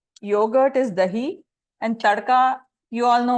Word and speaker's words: dahi: Like the name suggests, it's yogurt is dahi and tadka.